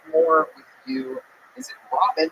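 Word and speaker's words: Rabin: Is it Robin? It's pronounced Robin. Robin, but it's spelled R A B I N. So, it's spelled Raven. No, the A makes the same sound as the first syllable in amazing.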